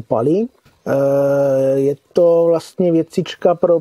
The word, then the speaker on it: Pa11y: Konkrétně tam zmiňovali nástroj, nevím, jestli si dobře pamatuju ten jeho název, píše se to PA11Y, čte se to tuším Pali.